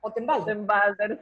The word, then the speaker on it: Ottenwalder: Otenwalder, y sí, la R sí. al final sí se pronuncia, ¿verdad? Sí, la R sí se pronuncia. Correctamente. En Alemania, en alemán las R se pronuncian bien marcadas.